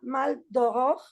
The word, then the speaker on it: Maldoror: Entonces el maldor dicen Bueno pues se pronunciaba maldog que es como mal de la Aurora pero al mismo tiempo